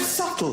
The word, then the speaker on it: subtle: waste of everybody's time the word subtle would anybody object if it was spelled SLE not a single person would but there's a be in the middle going sh just ignore